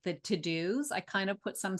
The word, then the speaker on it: TeuxDeux: It's called To Do, but it's spelled TEUXDEUX. I joke that it's called Tux Ducks because that's how it looks.